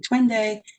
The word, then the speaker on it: Twende: First, I'll say to make sure that everyone's on the same page, the word that you're saying, Twende, is pronounced like twin day, and it is a Kiswahili word that means let's go.